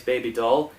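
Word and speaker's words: Bibi Dahl: Lyn Holly Johnson plays Baby Doll. Yeah, that's the character's name spelling, but it's pronounced baby doll.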